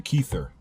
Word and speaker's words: Kether: rots, you have the Kether, which is also the same thing. Kether is just the word ether with a K at the beginning of it.